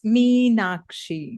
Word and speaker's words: Makshi: It's a difficult name because it's it's Sanskrit. So the correct pronunciation is it's Makshi.